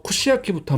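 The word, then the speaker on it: 串焼き: 그래서 이 땅 잃은 곳 같은 경우는 쿠시라고 읽어가지고 꼬치를 말합니다. 이 모양이 꼬치하고 모양이 비슷해요. 그 다음에 이 오른쪽은 불사르 소라고 해가지고 야키, 그래서 구이를 말합니다.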